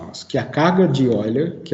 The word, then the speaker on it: Euler: Tem gente que fala Euler. A gente até escreve em português Euler, mas em alemão é Euler, né? A pronúncia certa é Euler.